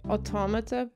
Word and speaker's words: Automata: a poopy I was being like I say automata yes that is correct okay alright someone